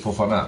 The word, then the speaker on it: Fofana: Fofana, come si legge?